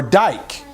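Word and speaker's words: δίκη: um interesting note here um lady odyssea comes also from a word called DK or Dyke actually is how it's pronounced and it means judgment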